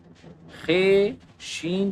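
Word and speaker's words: خوش: ते वाव पेश तो ख शी पेश खुश वाव साइलेंट है खुश हे वाव पेश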